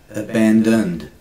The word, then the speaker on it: abandoned: Abandoned. In Australian we will just quickly say abandoned. You'll hear the small D at the end of the abandoned.